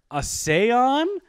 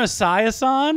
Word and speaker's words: Esiason: Boomer Asayon? Oh. And then she cuts me off and goes, Boomer Asayasan or whatever?